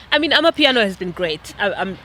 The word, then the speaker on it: Amapiano: Let me say it properly, not the fancy way. Amapiano has not only brought